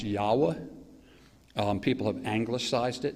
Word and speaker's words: Yahweh: it looks like YH wh YH wh it's pronounced Yahweh um people have anglicized it and made the